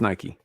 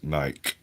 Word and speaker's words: Nike: I don't I'm never quite sure how to pronounce it. It's Nike. It's named after the goddess of victory, which is pronounced in the British fashion as Nike.